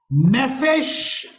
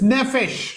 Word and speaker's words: Nephesh: Nephesh and Levav. नेफेश और लेवाव। I will tell you the spelling. आपको उसका स्पेलिंग बताऊंगा।